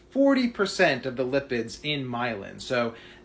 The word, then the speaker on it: myelin: Myelin is 100% made up of cholesterol. So it's actually pronounced myelin with an N at the end, not myelum.